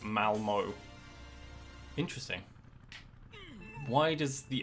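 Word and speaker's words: Malmö: Malmo is pronounced Malmo.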